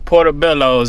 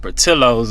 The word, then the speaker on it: Portillo's: Whole time I've been calling this thing Portobello's and it's called Portillo's or something. And y'all ain't even tell me that I was saying it wrong.